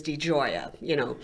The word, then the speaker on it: Di Gioia: It's spelled Digioia, just like it sounds. Yeah. Only it sounds like an Italian argument.